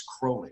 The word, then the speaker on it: Crowley: It's Crowley, right? Crowley rhymes So, with holy. He rhymed it with holy in this poem called "The Beetle."